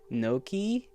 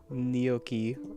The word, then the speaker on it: gnocchi: Noki? It's Noki? What? Oh, heavens above. Not Noki. Gnocchi. Or gnocchi. Yeah, gnocchi. Gnocchi. Oh, brother. Nahaki. It's only getting worse. Nahaki. Gnocchi. Okay, gnocchi.